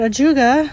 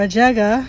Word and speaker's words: ajuga: and I found that a juga or a jaga however you want to pronounce it blooms from early May